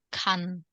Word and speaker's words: 칸: Yang ini dibaca A, yang ini dibaca An, yang ini dibaca Kan. 칸.